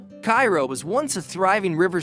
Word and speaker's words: Cairo: In Cairo, Illinois, pronounced Cairo by locals, you can find habitable houses for $15,000 or less.